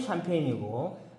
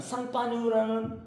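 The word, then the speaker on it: Champagne: 자, 저 샴페인이라는 거는 영어식 발음이 샴페인이고, 프랑스 발음은 상파뉴라는 그거를 영어식 발음하면 샴페인이 되는 겁니다.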